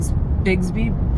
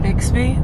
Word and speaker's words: Bixby: We're going to Big Bsby Bridge. Is that how you say it? Bixsby. Bixby. I think there's a K in there. No, it's an X.